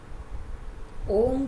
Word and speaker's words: ओम: अक्षर में आप देखोगे ओम जब उच्चारण करते हैं अ ओ म तो अ ओ म ये तीन जब अ उच्चारण करते